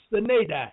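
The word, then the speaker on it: sine die: SINEDIE, 2 words. Pronounced Sinedai. That's the way I pronounce it.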